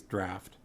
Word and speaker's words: draught: us follow balin's path pharma says the internet seems to think it's always draft but sometimes mispronounced draught really all right under the